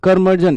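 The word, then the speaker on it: curmudgeon: कर्मजन, कर्मजन, कर्मजन। इसका साउंड होता है, प्रोनाउंसिएशन होता है कर्मजन, कर्मजन।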